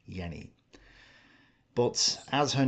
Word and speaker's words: Jenny: It may be pronounced Jenny, but German speakers online don't seem to agree on how this name is pronounced. So, I'm just going to stick with Yenni.